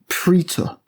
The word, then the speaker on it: Praetor: I say Praetor, a little trivia tidbit for you. If you're going by the Latin, Praetor is actually pronounced Praetor.